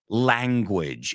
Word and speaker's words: language: And the first one that comes to mind is the word language, and it rhymes with bridge.